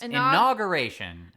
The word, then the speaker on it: inauguration: Yes, inauguration. I've been saying inauguration. She keeps putting this random N in there.